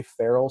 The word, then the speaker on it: Ferrel: find me it's Ferrel studio the letter F AR re ll which is my middle name I tell people like Will Ferrell but spelled like Colin Farrell studio and that's a